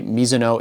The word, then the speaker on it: Mizuno: By the way, Miso is how you say it in Japan. It is a Japanese last name.